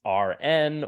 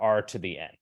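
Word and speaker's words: Rⁿ: vectors we write it like this this is pronounced RN or R to the N so this is pronounced either RN or R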